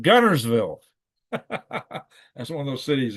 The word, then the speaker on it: Guntersville: You see, it's spelled Guntersville. It's pronounced Gunnersville.